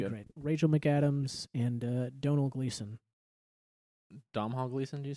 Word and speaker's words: Domhnall: I thought it was Domhnall. No, it's not actually pronounced how it's spelled.